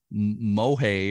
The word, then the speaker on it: MOHAI: I Know It Go they go by mohei or MOHAI Museum of History and Industry